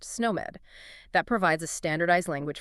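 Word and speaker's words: SNOMED: And similarly you have sn pronounced snow med that provides a standardized language for diagnosis.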